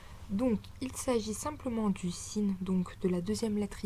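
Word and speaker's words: سين: La lettre suivante est le sin. Donc vous avez en exemple français les mots salon ou salade. Donc c'est exactement le même type de prononciation.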